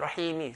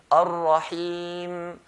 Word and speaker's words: Ar-Rahim: So they never used to say Bismillahir Rahmanir Rahimi, stop at Rahimi. So we're going to put mim sukoon, sakin. Ar-Rahim, Ar-Rahim, hold and let go.